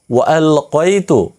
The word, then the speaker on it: وألقيت: এখানে একটি জিনিস শেখার আছে, সেটি হচ্ছে এখানে ওয়ালকাইতু কফ দিয়ে উচ্চারণ করবেন।